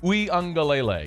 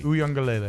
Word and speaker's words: Uiagalelei: Uiagalelei. Uiagalelei.